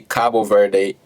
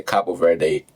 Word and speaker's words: Cabo Verde: Cape Verde, Cabo Verde, we may not agree on how to say it. Some people say Cape Verde, some people say Cabo Verde.